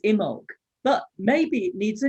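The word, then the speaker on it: Imbolc: tomorrow's holiday jane well the traditional name that people call it is imog but maybe it needs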